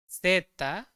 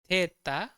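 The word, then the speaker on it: zeta: कहते हैं इका इका सेट को हम कैसे प्रोनाउंस करते हैं सेता सेता या थेता थेता पर जनरली सेता ही यूज होती है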